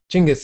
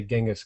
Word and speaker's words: Genghis: Genghis is the way they pronounce it in Mongolia, but in American English, we say Genghis Khan.